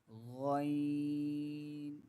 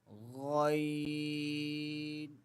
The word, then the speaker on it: غ: Therefore, the letter Ghaeen is both a throat letter and a bold letter or heavy letter. The sounds of bold and heavy letters will remain inside of the mouth. The sounds of these letters not coming out.